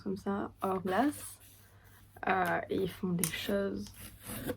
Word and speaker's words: Hourglass: Ça se prononce comme ça, Hourglass.